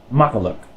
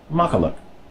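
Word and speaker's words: makkelijk: of an e sound this Li JK is pronounced much like the English word luck so this word is pronounced maka look maka look all these exceptions why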